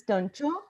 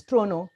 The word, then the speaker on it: Toronto: area uh I pronounce Tonto in India we pronounce tono but in Canada the right pronunciation is trono so GTA great trono area our main three